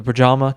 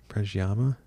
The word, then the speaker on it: Predjama: Predjama? Pajama? Pajama? It's not pajama for sure. I think it's just, oh man, I wish I knew this coming in. I think it's just Yama. Yama.